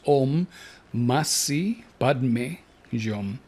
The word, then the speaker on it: Om Mani Padme Hum: Tonight, we have in store the practice with the mantra OM MANI PADME HUM that Samael has asked us to pronounce OM MASI PADME HUM.